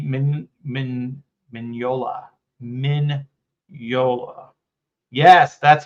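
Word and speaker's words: Mignola: want to say the g Min Min minola minola yes that's how you say is name tank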